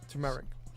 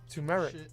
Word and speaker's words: turmeric: Turmeric. Turmeric. Reg. Turmeric. Turmeric. Yeah. Turmeric. That's what she wrote. Turmeric. That's what I said, Tara. Turmeric. I say turmeric. Your husband says it wrong.